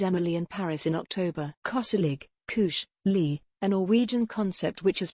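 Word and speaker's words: koselig: the netflix series emily in paris in october cosselig lee a norwegian concept which has become a lifestyle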